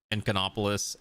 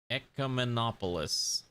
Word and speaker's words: ecumenopolis: like the whole like Enconopolis, how do you say the stupid word? Encomopolis, because it encompasses the whole, what is it called? Ecumenopolis. But yeah, so I really